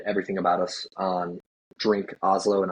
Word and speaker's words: Hazlo: Um, I would say I I mean obviously you can find everything about us on Drink Oslo and Oslo is spelled H A Z L O.